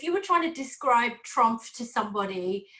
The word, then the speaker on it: TRUMPF: They said, if you were trying to describe TRUMPF to somebody, how would you describe us? And I said, the first thing I would do is make sure I pronounce the F.